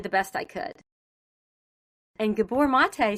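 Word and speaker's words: Gabor Maté: Do you know, and I don't know if I'm going to say his name name right, Gabbor Mate?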